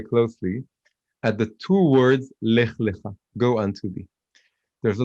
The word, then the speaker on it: Lech Lecha: And if you take away the punctuation, the vowels, they're the same word. It's Lamed and then Chaf. Lech Lecha. It's pronounced differently, but if you look at the Torah scroll, you can't see the difference.